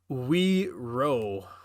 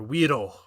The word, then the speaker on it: Uiro: But yeah, that's weird because oh no, it's just UIRO, and it's still pronounced the same way, which is kind of cool. yeah. Wiro.